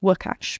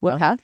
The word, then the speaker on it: Łukasz: So Lucas B, which would actually be pronounced Łukasz B, because it's a Polish name, Polish spelling of Lucas. Łukasz.